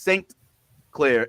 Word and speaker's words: St. Clair: Now, to be clear, like it Jazz is Sinclair, Sinclair. Yas, our buddy Yas, is Saint Clair, Saint. Oh, okay. Clair. Yeah. Okay. I spell it ST period CLAIR.